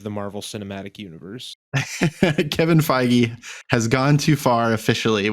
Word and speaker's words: Feige: the reach of the marvel cinematic universe kevin feige has gone too far officially with this one